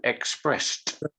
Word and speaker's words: expressed: the verb explains exactly if the verb or the word before the ed ends in a t or d then we say ed but all other combinations we don't we lose the e and often and often the d becomes a t so expressed expressed in